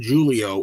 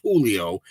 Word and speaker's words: Julio: First of all, his name's not Julio. It's Julio. The Jay is silent.